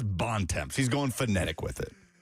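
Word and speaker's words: Bontemps: He he pronounces it bonds which just is so disappointing. I thought you had like a seizure. It's like what are you trying to say? No, it's B O N T E M T S Bon.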